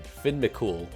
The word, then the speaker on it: Fionn mac Cumhaill: Number 87, Finn McCool, and yes, that is the correct way to pronounce his name.